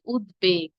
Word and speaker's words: উদ্বেগ: উদ্বেগ, কারণ উদ উপসর্গ যোগে গঠিত হয়েছে।